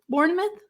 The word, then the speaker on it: Bournemouth: Am I saying it correctly? Bournemouth? Yeah, you are. Yes. Okay. Bournemouth.